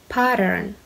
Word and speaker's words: pattern: means the repeated design pay a bit closer attention to its pronunciation the flap T and R sound pattern the example is to